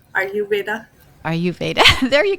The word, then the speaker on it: Ayurveda: to pronounce it is r u Veda as in I am Veda are you Veda are you Veda there